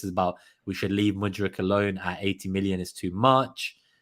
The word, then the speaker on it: Mudryk: So Christopher also every time I hear you pronounce his name, I think we're signing Luka Modric. Oh yeah, Modric. Modric. No, Mudryk.